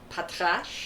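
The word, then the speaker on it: Patrasche: Can you pronounce that dog's name? Maybe it's Patrash. Pat. P A T R A S C H E.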